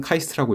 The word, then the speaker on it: 카이스트: 지시에 따라 1970년도에 설립되었으며 약칭은 카이스트라고 읽습니다 정부의 목표로 설립된만큼 산업화의